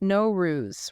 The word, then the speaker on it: Nowruz: Pronounced Nowruz, right?